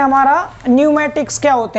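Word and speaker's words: pneumatic: देता हूँ आपको क्या न्यूमेटिक होता क्या है, ताकि आपको इस टर्म न्यूमेटिक का मतलब समझ आ जाए कि न्यूमेटिक किसे कहते हैं। ठीक है, तो यहाँ पी साइलेंट रहता है इसमें, न्यूमेटिक।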